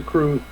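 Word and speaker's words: crwth: that's the fun part it's spelled see our w th it's a welsh ensure that that can't be right comes to us comes to us from wales CR WTH um i think it's pronounced the crew if I are I'm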